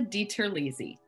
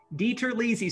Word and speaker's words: DiTerlizzi: So, for our listeners and viewers, our friends and neighbors, can you pronounce our last name for us, if you could? Absolutely. It's DiTerlizzi. DiTerlizzi.